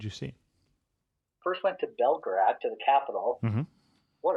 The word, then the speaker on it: Belgrade: So Belgrade, first of all. Belgrade? Sorry, I've been saying that wrong, it sounds like. Beograd, Belgrade, depends on which language you're speaking. That's the pronunciation, or the way that it's even spelled.